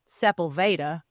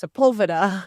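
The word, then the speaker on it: Sepulveda: in the valley and to me it was pronounced um, Sepa, but in LA it's pronounced Sepulva.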